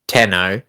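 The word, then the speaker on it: 天皇: Havey monarchy science the emperor of Japan tenno pronounced tenno literally rule ruler of heaven or Heavenly so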